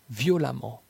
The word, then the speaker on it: violemment: La lettre E dans la combinaison de lettres EMM se prononce comme un A. Femme, femme. Évidemment, évidemment. Prudemment, prudemment. Violemment, violemment. Impatiemment, impatiemment. Intelligemment, intelligemment.